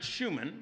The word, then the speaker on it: Schuman: He pronounces it Schuman, rhymes with Truman, the president, and this is William